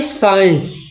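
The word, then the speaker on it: science: और एस ई आई ई एन सी ये का पढ़ी साइंस, साइंस में विज्ञान में सी साइलेंट जा वाली सी जो है ना जो साइलेंट हो जाए, ठीक है।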